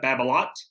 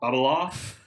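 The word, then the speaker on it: Babolat: and i think it that's because it's a french company correct yeah well some people will be like uh babalot or babalot you know bubble off uh but uh yes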